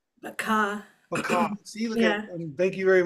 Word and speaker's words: Baqa: Ahad butterflies Baka butterflies Baka that's how I pronounce it right Baka Baka see thank you very much so butterflies